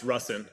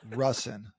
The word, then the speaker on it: Rusin: Uh, it's Russen. Everyone messes that one up. Okay. I've been saying it wrong for like a decade then. Yeah, everyone has. Russen.